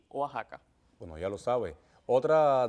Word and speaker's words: Oaxaca: Esto se aplicaría también en otros topónimos que cumplen con esta característica, y es Texas, que a veces dicen impropiamente Texas, y también con Oaxaca, que a veces dicen Oaxaca. Lo apropiado es México, Texas y Oaxaca.